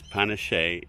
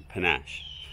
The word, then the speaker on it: Panachee: punish a to Ric remember now it's punish a not panache and it should be